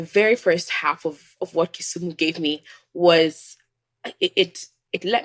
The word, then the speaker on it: Kisumu: Kisumu? ACHIENG AGUTU: Kisumu.